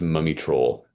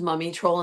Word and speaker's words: Mumiy Troll: I believe it was pronounced Mumiy Troll.